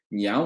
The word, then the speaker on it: 娘: 娘它发音是娘往上走啊，娘的